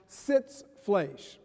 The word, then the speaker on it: Sitzfleisch: The German word is pronounced Sitzfleisch.